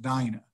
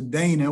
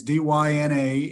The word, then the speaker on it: Dyna: like you said but it's actually pronounced dinah uh notice you pronounce the dana which a lot of people do uh it's d-y-n-a and we pronounce it